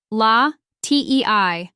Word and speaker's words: latte: milk in this context when I say medium latte I'm specifying the size remember in many cafes the sizes May differ so don't hesitate to ask what sizes do you offer the pronunciation of latte is La Tei and you can practice by saying it slowly